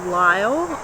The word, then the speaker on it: Lisle: just outside of chicago i think it's pronounced lyle or yeah l-i-s-l-e illinois and our first stop